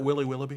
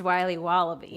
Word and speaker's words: Wiley Wallaby: Can I have a piece of that Willy Willoughby? Wally Wibbly. Wiley's Wallabies. Wallaby Wallies. Wilby Wababy. It's pronounced Wiley Wallaby.